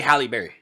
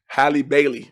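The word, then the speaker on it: Halle Bailey: Cuz I always say Halib Berry. Hi Bailey.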